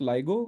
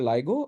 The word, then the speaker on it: LIGO: clarity uh two points one is it's not pronounced Lio it's pronounced ligo nobody here called it Lio but many people often do so it's called ligo and the name is ligo India or Lio